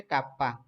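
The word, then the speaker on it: kappa: একে কাপ্পা দ্বারা প্রকাশ করা, এটার উচ্চারণ হচ্ছে কাপ্পা।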